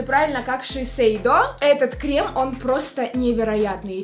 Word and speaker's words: Shiseido: Если я не ошибаюсь, эта марка произносится правильно, как Shiseido.